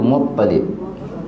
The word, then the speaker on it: Muttalib: Mutalib. Mutalib. Mutalib. Sebenarnya kita eja rumi kan? Tak ada sabdu. A dia kalau jawi ada sabdu. Muttalib. Tapi eja mutalib ajelah macam biasa.